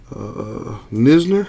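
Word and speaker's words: Knizner: Andrew Nisner, I think the K is silent on that.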